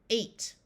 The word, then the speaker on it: eight: is also a with the GH being silent eight like the number th in this word